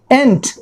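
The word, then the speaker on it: ain't: तो आप कभी कभी इसको देखिएगा AIN', एंट, राइट? इसके ये प्रोनाउंसिएशन होते हैं एंट, राइट?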